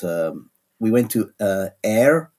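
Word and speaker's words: Ayr: we went to uh air I think that's how you pronounce it a y r on the west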